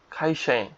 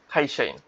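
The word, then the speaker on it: 会社員: বা ছাত্রছাত্রী শিক্ষার্থী তারপর কি আছে কাইশা ইন খাইশাইন কাইর সাথে ই কাইশির সাথে ইয়াশা ই আর হচ্ছে ন ইন খাই খাইশাইন। এখানে ক এর উচ্চারণটা খা এর উচ্চারণটা একটু খ এর মতো হয় আর কি। হ্যাঁ? খাইসাইন।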